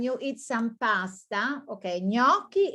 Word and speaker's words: gnocchi: to a restaurant and now you have to pronounce it well when you eat some pasta okay gnocchi it's a kind of pasta now you know